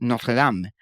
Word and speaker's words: Notre Dame: Eso es como la muy famosa universidad, como se le dice en inglés, de Notre Dame, en Indiana, que Sí. en realidad es el francés Notre Dame.